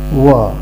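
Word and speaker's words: は: But when it is used as particle, it is pronounced as wa.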